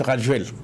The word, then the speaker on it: Rajoelina: Donc, il y a eu des conflits avec le maire d'Antananarive à l'époque, l'actuel président Andry Rajoelina. C'est écrit Rajolina, mais on prononce Rajoel.